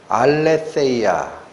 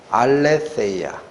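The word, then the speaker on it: ἀλήθεια: 헬라어 단어가 뭐냐면 예 오늘 자꾸 헬라어 많이 발음해서 죄송한데 한 번만 더 할게요 알레테이아 이게 진리입니다 알레테이아 무슨 뜻이냐 레아라는 단어 앞에 부정 접두어 아를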